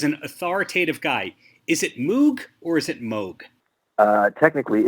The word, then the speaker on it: Moog: but technically it's pronounced Moog so for example they had a keyboard called the rogue that was one of their models the whole point was it for it to rhyme so it was a